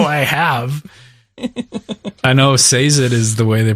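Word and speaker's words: Sazed: i have i know says it is the way they pronounce it in the audiobooks i know says it is probably the proper pronunciation when i read it it's sazid and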